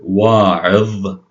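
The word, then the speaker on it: واعظ: Now, finally, the dha at the end of a word, we have the word wa'idh, wa'idh. See the dha sound at the end?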